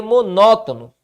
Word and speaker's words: monótono: Paladar deixou de ser monótono Ok perceba que tá a sílaba tônica monótono ó tá na antepenúltima sílaba Que papo é esse